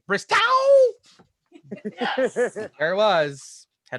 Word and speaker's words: Bristow: I am told, I am sorry, I'm getting right here right now, the incorrect pronunciation of his last name. It's actually Bristow.